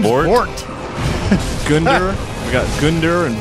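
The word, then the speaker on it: Vordt: the the debuff frost fite how do you pronounce his name his name vort Gund we got Gund and vort thanks Mom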